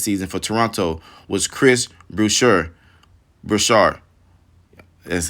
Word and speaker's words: Boucher: Talk about one guy who was not on my radar this season for Toronto was Chris Boucher.